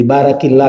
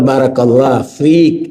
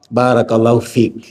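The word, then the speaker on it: بارك الله فيك: Karena ada yang salah, dipikir kalau perempuan tuh diganti kaknya jadi ki. Jadi barakillah katanya. Tetap barakallah fiik, belakangnya yang beda. Kalau laki-laki fika, perempuan fiki. Nah, supaya aman bacanya disukunkan, di stop. Barakallahu fiik.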